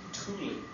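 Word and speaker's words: Thule: you James I should have given you the pronunciation it's actually Tuli Tuli okay um Tuli air base is about 700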